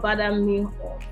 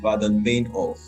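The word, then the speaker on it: Baader-Meinhof: So tell us about Bada Meinhof. So what language is that? The pronunciation is Baden Meinhof, and it's actually what language is that?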